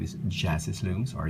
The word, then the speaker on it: Jasis: mine her name is jasis looms or yasis Looms on Instagram and I say yasis because in German J is pronounced as a y if I'm not mistaken but this is her